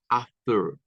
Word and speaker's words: after: las vocales del inglés after no Esther no es ater no Ester si usted lo pronuncia como ter lo está haciendo con un sonido de epuro y no es una epura es un es mucho más suave es y luego en estas